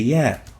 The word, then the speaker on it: ي: The next letter is the ya. Ya. It looks like this, and it is similar to the double E in English, or a Y. If it is pronounced as E, like in feel, double E, in feel,